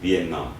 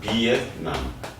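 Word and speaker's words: Việt Nam: 좀 익숙하지 않아 하죠 위남 이렇게 표현을 하는게 좋습니다 왜냐면 이게 배트로 발음한다는게 참 좀 이상하죠 예 배트로 비남 이렇게 되거든요 이제 베트남 언어는 이렇게 또 되기 때문에 베트남 말은에 이렇게 되거든요 여기 난이 있으니까 발음 세게 해서 남 예 그냥 남 그니까 비남이 우리가 성조 발음 잘 못하니까 그냥 비엔남 영어 식으로 예 이렇게 발 그러니까 비엣남 이렇게 발음을 하시면 더 좋습니다 더 친근감을 느끼겠죠 전남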